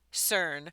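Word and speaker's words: SYRN: promote her upcoming lingerie brand called CERN. It's spelled s y rn.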